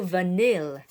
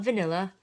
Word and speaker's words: vanille: and last we have tobacco vanille not vanilla vanill with an e at the end i am hoping i'm